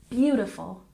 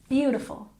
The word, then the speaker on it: beautiful: stress the first syllable beautiful beautiful once again beautiful and sculpture we stress the first syllable sculpture sculpture once again